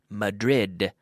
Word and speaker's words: Madrid: known as mathuroth its Madrid for us in English because we pronounce the DS we pronounce every D the same this is why a